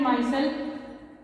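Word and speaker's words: micelle: ये क्या आती है आपकी, critical माइसल concentration, critical मिशेल concentration, या वो प्रोनाउंसिएशन में आप कुछ भी बोल सकते हैं।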